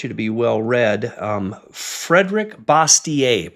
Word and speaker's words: Bastiat: Frederick Bastiat, probably Bastiat is how a lot of people pronounce it. He's French. It was probably Bastiat.